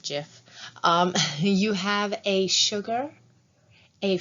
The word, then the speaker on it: GIF: see in this adorable gif um or as they now say you're supposed to pronounce it jif you have a sugar